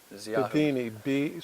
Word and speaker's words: Bedini: Bedini, spell it out.